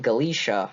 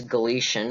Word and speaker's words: Galicia: Next up on the list we have, and after looking it up on the web, I have now been informed that it is pronounced Galicia, I think.